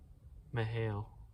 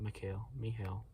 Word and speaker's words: Mikhail: our generation so yeah mihail mihail not mikhail lehrman laramonta i get jealous